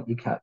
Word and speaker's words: Ikat: was made using a traditional ecat process um which I don't have time to get into but that's spelled Ikat if you would like